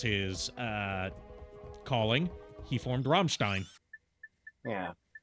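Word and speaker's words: Rammstein: Metal oh are you familiar with the band romstein romstein no I am not you might know them as Ramstein um but the proper pronunciation CU they are German is Ramstein um popular indust German industrial metal Act uh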